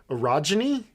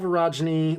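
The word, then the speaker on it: orogeny: um de Maya has been discovered to have erogeny is that what happened I think that's how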